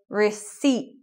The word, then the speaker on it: receipt: When you buy something in the shop, they give you a receipt. No P.